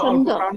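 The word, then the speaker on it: छन्दः: When you pronounce cha, the little air is used there. You can feel the little, just small quantity of air only. If you pronounce cha, उस समय ज्यादा हवा का प्रयोग हुआ आपको महसूस होगा। ये निश्चित Gayatri छंदः, that's how cha is pronounced.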